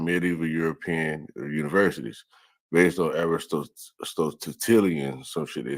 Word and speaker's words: Aristotelian: All right, Aristotelian.